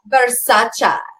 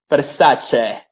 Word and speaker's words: Versace: like Versace. You guys are all saying it wrong. Yeah. Versace.